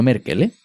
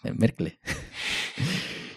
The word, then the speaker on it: Merkle: No Merkel, Merkle.